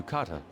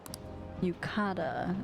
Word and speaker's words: yukata: to put on the yucata Yukata is how they say it why aren't you two